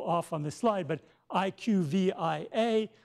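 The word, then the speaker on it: IQVIA: on the slide but IQ VI a which looks like a CLIA but they want you to pronounce it IQ via so they have rebranded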